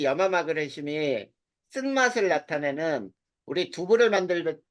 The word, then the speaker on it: 염화마그네슘: 염화마그네슘이라고 읽어. 그리고 이 염화마그네슘이 쓴맛을 나타내는 우리 두부를 만들 때 쓰는 게 이 MgCl2 간수라고 불러.